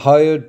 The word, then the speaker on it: hyoid: The hyoid bone, it's spelled H-Y-O-I-D, floats in the neck area.